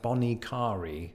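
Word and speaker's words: Bonnet Carré: that's not it so the locals go with something like Bonnie Cari let me know in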